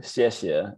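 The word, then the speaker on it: 谢谢: i thought thank you so shishia is pronounced shishi i haven't had any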